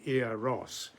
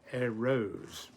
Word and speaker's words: Eros: The Greeks of course pronounced him quite differently. Instead of saying Eros, they said Eros. The first syllable short, the second long.